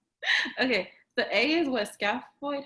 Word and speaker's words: scaphoid: Okay, so A is what, scaphoid? How do you say it? Scaphoid?